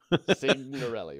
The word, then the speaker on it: Signorelli: I got a real issue with that name, apparently, saying like sign, only okay. You pronounce the G. Signorelli.